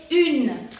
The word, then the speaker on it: une: en francés se dice une, que se pronuncia como U del abecedario y N, porque la E final no se pronuncia y se pronuncia une.